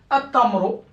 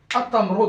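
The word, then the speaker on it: التمر: Et donc, comme le ta c'est une lettre solaire, donc le lam, je dois rien mettre dessus, donc je ne dois pas le prononcer.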